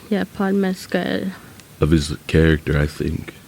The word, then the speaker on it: Mescal: Yeah, Paul Mescal.